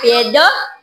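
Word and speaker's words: paedo: a e d o p a e d o paido paido paido ah pedo okay ang buyag sa bata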